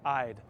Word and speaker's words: Eide Bailly: Eide Bailly is pronounced like this, Eide, as in I'd like to work with you.